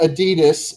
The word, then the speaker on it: Adidas: I'm just dying It's inside Mazda, because how you pronounce it. Gemma, Yes. it's not Adidas.